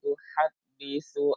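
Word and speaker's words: تُحَدِّثُ: ma laha yawma idzin tuhaddisu akhbaraha. Pengucapan huruf ha, tuhaddis, ya, ada udara mengalir. Tuhaddisu, jangan sampai dia agak sama dengan huruf ha.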